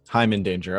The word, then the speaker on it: Heimindanger: Is it like Hyman Danger? Yeah, I'm Danger. Hyman Danger. Okay, because I've heard people pronounce it a bunch of different ways, but